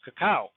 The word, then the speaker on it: cacao: An example that I like to use is the word cocoa in English, which is borrowed from the Yucatecan Mayan word for the same object, which is pronounced cacao.